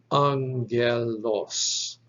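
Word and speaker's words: ἄγγελος: from a previous video a double gamma is pronounced like n g epsilon is a short e sound lambda is an l omicron is an o sound and your terminal sigma will sound like s so this is pronounced angelos can you hear that there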